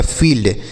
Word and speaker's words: field: जैसे एफ से पढ़ेंगे फ, आई के बाद ई है तो बड़ी की मात्रा लगा दीजिए। एल से आधा ल, डी से ड लिखा गया फील्ड।